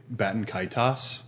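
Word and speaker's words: Baten Kaitos: Now, Dylan, can you explain to me how to pronounce Batankados? There is no set way to say it, but I say Batankaitos.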